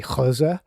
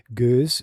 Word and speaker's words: gueuze: The Dutch what pronunciation would be gueuze. The Flemish would be a little bit softer than that. It's perfectly fine to say gueuze, which is the French,